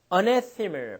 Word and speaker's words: anathema: 자, 3번에 보시면 anathema. 발음 좀 주의합시다.